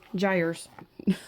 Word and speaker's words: gyres: I need to look up how to pronounce that word. G-Y-R-E. Oh, There it is. Gyres.